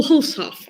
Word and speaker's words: Hulshof: Casper Hulshoff. Oh, Hulshoff. Okay, yeah. A little bit closer. Yeah, it's very good. It's just where you make the break.